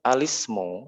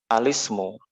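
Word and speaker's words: الاسم: Nah, adapun alismu ini dibacanya bukan, afwan ini tidak ada hamzahnya. Adapun alismu, ya ada 3 dari bahasa Arab tadi. Alismu, bacanya bukan al-ismu tapi alismu, Malisme.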